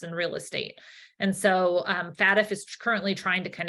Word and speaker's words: FATF: Is that how you say it, FATF? Right? Leslie Johns: Yeah, that's how the US says it. FATF.